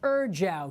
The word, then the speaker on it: ejiao: EJIAO, pronounced Erjiao.